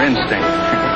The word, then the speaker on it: instinct: It's just his mother instinct. Instinct is right, with the accent on the last syllable.